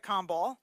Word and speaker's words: Kombol: a humble all right just like it's spelled easy Danica calm ball joining us this morning